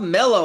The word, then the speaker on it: Mello: I have on Zoom with me right now Rob Melo. I pronounced that correctly, right?